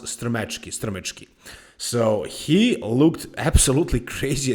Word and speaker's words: Strmecki: to pronounce, but really his last name is pronounced Strmecki.